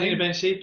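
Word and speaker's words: Zina Bencheikh: You've got a new leader for the UK and European region, I believe, in Zina Benchek. Is that correctly how I pronounce her name? Zina Benchik, yeah.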